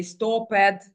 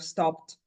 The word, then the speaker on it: stopped: is why for example they say stoped and so on instead of stopped uh that is why